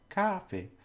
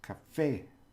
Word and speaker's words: café: So, café, for example, it's not cafe, it's café, okay, and that's coffee.